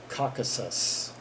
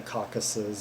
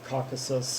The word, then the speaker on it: Caucasus: by Ganesh ensemble yeah the reason I had a hard time pronouncing that word before I played the songs that I guess I don't we go across that that regional name a few times and I guess some that in in my head before I had pronounced it as like the caucuses or something yeah and I would